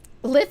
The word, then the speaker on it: Lith: Lith rhymes with scythe, assuming you can pronounce scythe correctly?